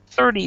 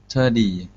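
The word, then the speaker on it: thirty: actually in English um a lot of us will pronounce it with a d 30 days 30 30 days yeah that's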